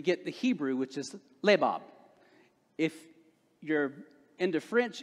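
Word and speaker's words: לבב: the hebrew which is labab if you're into french it's not lebab it's right in hebrew i believe in hebrew the accent goes in the first part the first syllable and so when we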